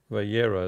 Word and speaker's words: Vayera: here by yaar and here Veera Valera is actually how you pronounce this one and he looked so